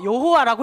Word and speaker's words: 여호와: 그러니까 못 읽는데 어쨌든 성경에 기록되어 있으니까 어떤 식으로든 읽어야 되니까 아도나이 모음을 갖다 붙여서 여호와라고 읽는 거예요.